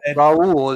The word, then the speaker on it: Raul: Well, have Raoul because it's It's Raul. Raul is how you pronounce it.